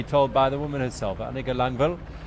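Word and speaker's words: Annika Langvad: by the woman herself a nickel on bail so disregard how you see it spelt it turning into the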